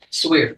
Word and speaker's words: Swear: Is it Swear or Yes, sir. Swire? Swear. That's I grew up with some Swears in Mid-County, and that's the way they pronounce their name. Now I think I called you Swire, but Miss Swear.